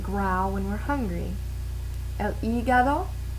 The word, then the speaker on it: hígado: El hígado, so H is silent.